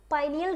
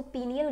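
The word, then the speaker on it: pineal: पाइनियल gland या इसको पीनियल gland भी कह देते हैं। आपको जो सही लगे आप बोलो। पाइनियल बोलो, पीनियल बोलो। आपकी मर्जी दोनों एक ही है।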